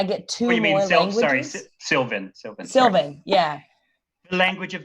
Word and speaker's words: Sylvan: Sevian. And then I get two more languages. Sorry, Sylvan.